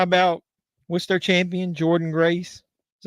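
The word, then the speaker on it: Jordynne Grace: in TNA and how about what's their Champion Jordan Grace is how you pronounce her name she may end up appearing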